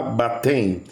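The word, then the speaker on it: βάπτειν: Y esta palabra baptein, es así como se pronuncia en el griego, era la acción de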